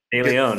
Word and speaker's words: DeLeon: And I'm joined by DeLeon, and I'm pronouncing your last name correct, yes? DeLeon? Is it DeLeon? DeLeon, yeah.